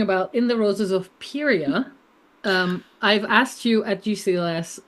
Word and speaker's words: Pieria: We've been talking about In the Roses of Pieria. I've asked you at GCLS how to pronounce that, and you said, I don't know.